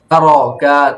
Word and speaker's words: ترك: তারাকা, ترك, তারাকা, ترك, টর উচ্চারণটা দেখেছেন? জিহ্বার আগার পিঠ তার বরাবর উপরে তার তালুর উপরে সঙ্গে লাগিয়ে, তালুর সঙ্গে লাগায়, হ্যাঁ, তারাকা, ترك, তারাকা, ترك, হ্যাঁ, সুন্দর, এগুলো পড়ে আসবেন।